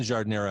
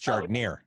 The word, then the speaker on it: giardiniera: Well, and once you enter Chicago or the Midwest, the pronunciation changes. It becomes giardiniera in Chicago. It's not giardiniera, it's giardiniera.